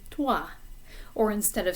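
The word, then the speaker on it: toi: the beginning of twa in english we kind of pop these sounds out we say you know like test or take and the p at the beginning of a word it's similar like um let's say press or push those sounds kind of pop out of the mouth in french they're a little softer a little more subdued so instead of saying tua it should be tua or instead of saying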